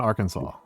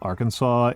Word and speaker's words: Arkansas: As a non-American, why do you not pronounce Arkan? Well, it depends a lot. Because Yes. we got Kansas and Arkansas.